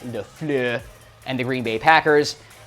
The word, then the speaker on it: LaFleur: That's how I say his name, Matt LaFleur, and the Green Bay Packers.